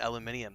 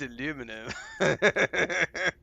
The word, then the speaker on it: aluminum: And so I've been calling it aluminium this whole time until Howie called me out. He's like, "Actually, it's aluminum.